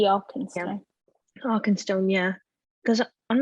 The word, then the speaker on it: Arkenstone: Now we didn't see what's inside, but my best guess could be the Argenstone. Is that how you say it? The Arkenstone.